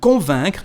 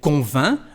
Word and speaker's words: convainc: The same thing, elle convainc. Again, we don't pronounce the letter C at the end of the verb.